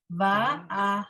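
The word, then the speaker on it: וַאֲהַלְלָה: But Barbara is right that the word is actually va'ahala.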